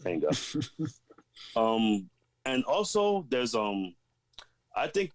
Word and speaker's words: manga: That's how you say it, manga.